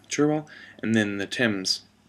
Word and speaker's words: Cherwell: discusses about how the river churwell I think it's pronounced cherwell and then the Tims